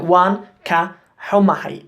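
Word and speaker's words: Waan ka xumahay: But it's important to remember this ka in there. Wan ka humahay is how you say sorry.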